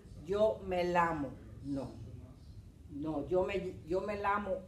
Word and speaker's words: llamo: Remember que esta pronunciación es like ya, ye, ye, yo, you.